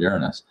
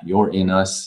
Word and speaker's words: Uranus: finding G ganbare is Uranus pronounced Uranus or you're in us also how do you avoid laughing it sound of the word Uranus it's Prince Uranus with the accent on the